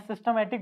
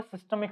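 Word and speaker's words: systemic: मैं सिस्टमैटिक बोल रहा था क्या? इसका एक्चुअल जो प्रोनंसिएशन है वो है सिस्टेमिक सर्किट।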